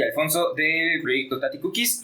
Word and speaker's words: Tati Cookies: Pues son 2 palabras, pero se pronuncia todo corrido. Tati Cookies.